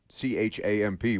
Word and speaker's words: champ: So the main course for Rory, Wagyu filet or seared salmon, you have the option, with traditional Irish chomp, which CHAMP would be pronounced champ, but I'm sure I'm saying that.